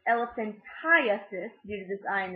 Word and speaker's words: elephantiasis: to lymphatic dysfunction y'all might have heard of elephant titis but we actually actually pronounced elephantiasis due to this I and this a and